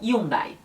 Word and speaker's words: Hyundai: mas é simplesmente almada outra marca com h que também acontece a mesma coisa é a hyundai que eles falam e um dae a marca reno também